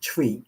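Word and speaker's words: Twi: in the Ghan language of tree tree it's pronounced tree spelled tww and tree is one language that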